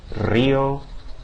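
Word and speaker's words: río: Now let's start with the beginning, because at the beginning of words it has the same pronunciation as the double R. In other words, that multiple trill, right? The rolled R sound. Rio, rancho, rubia.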